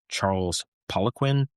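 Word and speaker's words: Charles Poliquin: I think the pronunciation is Charles Poquin, but he's a Canadian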